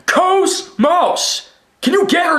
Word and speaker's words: KOS-MOS: And by the way, people say her name wrong. They always say like like Cosmos or Cosmose, whatever. It's KOS-MOS. KOS-MOS.